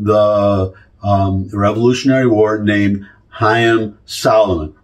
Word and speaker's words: Haym Salomon: um Revolutionary War named hyim Solomon is how you would really pronounce it but anglicized hyim Salomon I'm going to read